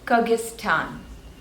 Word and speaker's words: Kyrgyzstan: go away next is Kyrgyzstan Kyrgyzstan and there are three syllables the stress is on the second one Kyrgyzstan Kyrgyzstan Kyrgyzstan next